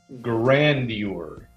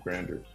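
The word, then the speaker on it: grandeur: is that she has delusions of grander grandure that's how you say it delusions of grandure she saids Grand it's not delusions of granders Bill Cosby yeah another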